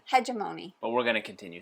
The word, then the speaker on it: Hegemony: it's not root I'm going to continue to pronounce it incorrectly just to annoy rolling Reggie okay uh and that is hemony not hegemony according to Rolling Reggie oh he says hegemony it's that's the actual pronunciation hegemony but we're going to continue saying Hony because